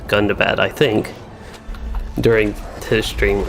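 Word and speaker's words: Gundabad: of standing stone games i was thinking it was goon to bed and then he pronounced that a scenario pronounced it as gunda bat i think during his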